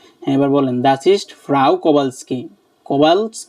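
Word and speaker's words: Kowalski: বে আ এল এস কে কা ই এইটার উচ্চারণটা মানে প্রনান্সিয়েশনটা একটু বলবেন কোবালস কি বললাম না ফ্রাও এটা না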